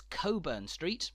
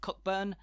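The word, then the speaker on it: Cockburn Street: it's so Keyhole Street and in Edinburgh it's Coburn Street not cockburn and it's Hollywood not holy rude Hollywood a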